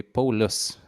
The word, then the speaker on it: Paulius: Hello, Paulius. That is how you pronounce it. Yes, Paulius. Uh, Actually, my Lithuanian pronunciation of the name would be Paulus.